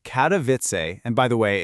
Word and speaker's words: Katowice: Well, in a city in southern Poland called Katavitz, and by the way, it's pronounced Katoisa, there's this one event that is just flipping that whole idea on its head.